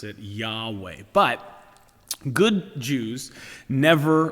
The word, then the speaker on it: Yahweh: up the name of God in English we pronounce this name Yahweh it's also been transliterated Jehovah but it's really